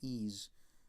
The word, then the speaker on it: Ys: I think it's pronounced Ys.